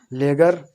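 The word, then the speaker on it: ledger: अब आगे देखो सातवां, यदि जी से पहले डी आ जाए तो डी हमारा क्या रहता है, डी हमारा साइलेंट रहता है, जैसे ईग, ईग माने किनारा होता है, विरेज, बजट, लेगर, लेगर माने बता ही दिया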